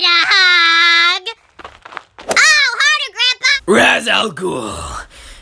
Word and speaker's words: Ra's al Ghul: His name rhymes with Azul.